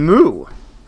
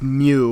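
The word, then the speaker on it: Mu: I guess that means if Agent CT had gotten an AI, it would have been Moo. I know it's pronounced Mew, but I didn't know that before I wrote this joke.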